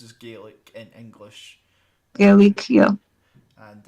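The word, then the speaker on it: Gaelic: G language maybe also referred simply as G pronounce gik I saying well yeah yeah it's pronounced as GIC in English GIC yeah and uh yeah I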